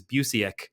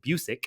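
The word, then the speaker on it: Busiek: is crediting buus buic his last name I heard McLoud pronounce it in the documentary as buic I'm trying to learn that because in my head forever I thought it was Buc but it's not it's buic I believe um but anyways to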